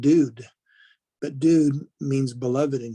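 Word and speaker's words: דוד: And so if you have a dalet and the u and then the dalet, that'd be pronounced dude.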